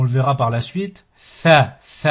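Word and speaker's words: ثاء: Tha, comme en anglais. The, tha.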